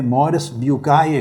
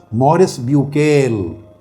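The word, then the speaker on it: Maurice Bucaille: ان کا نام تھا، فرینچ لینگویج میں مورس بیوکائے کہتے ہیں، مگر انگلش میں میں آسانی کے لیے نام لوں گا مورس بیوکیل. انگلش میں اس کا تلفظ بنتا ہے ڈاکٹر مورس بیوکیل.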